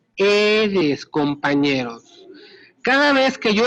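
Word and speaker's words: Aedes: que es el género eres yo sé que se escribe a eres sí pero se pronuncia eres compañeros cada vez que yo escucho a eres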